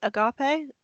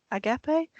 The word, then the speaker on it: agape: Um, so we're Did I pronounce it correctly? Agapee. Agapee primary refers to an ancient Greek concept of selfless, unconditional, and sacrificial love.